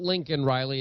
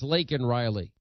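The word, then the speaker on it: Laken Riley: and it's you know not Lincoln Riley it's lak in Riley because one of Joe's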